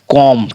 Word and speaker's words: comb: अगर एम, जैसे एम है ना, और एम के बाद किसी वर्ड में बी आ जाता है तो हमेशा जो है सो क्या होता है कि बी हमेशा साइलेंट होता है। जैसे देखिए COMB, कॉम। ठीक है, ये हमारा देख सकते हैं आप। अगर आप इसको कॉम पढ़ रहे हैं और इसका उच्चारण ही कॉम है तो आप ऐसा